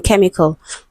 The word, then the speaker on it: chemical: It can be pronounced as k, as in chemical.